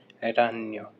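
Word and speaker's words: ragni: कीड़े इसके बाद में रान य हो मकड़ी तो मकड़ी को बोलते हैं रान जो जी है वो साइलेंट रहता है और बहुवचन है तो रानी जी साइलेंट रहेगा और ओ की जगह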